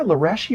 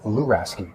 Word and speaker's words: Luraschi: days I'm going by allure a ski it's a it's a it's a risky it's difficult it's at a time okay so the schi is actually pronounced like a ski well call you claim